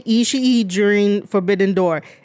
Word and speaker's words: Ishii: Do not say Ishii during Forbidden Door. It is just Ishii. None of the ring announcers and commentators such as Chris Charlton and Kevin Kelly say Ishii. It's Ishii.